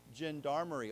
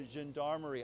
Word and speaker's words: gendarmerie: It's not g, it's zh. So gendarmerie, and I'm probably saying that wrong, but anyhow, let's say it together. Gendarmerie.